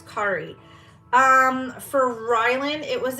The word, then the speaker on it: Kari: rooting artist kit cut it's Kari but it's spelled c-a-r-i so I always want to call her Carrie it's Kari um for Rylan it